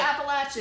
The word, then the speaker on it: Appalachia: It's actively, physically hurting me that you said it wrong, but I'm gonna try to respect where y'all are from. Appalachia? Or Appalachia, is that how you want me to say it?